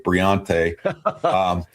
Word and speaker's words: Briante: Briante Johnson. He was Tay Johnson. He changed his name, I think, to rhyme with Beyonce. Briante.